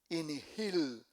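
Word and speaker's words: Injil: Otra palabra, inigil.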